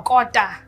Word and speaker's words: Kota: I've learned how to make a kota. Yes. Did I pronounce it well? Kota.